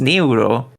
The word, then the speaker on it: Neuro: why japanese is mimicking that so he's actually pronounced niuro oh i see well that's how you gotta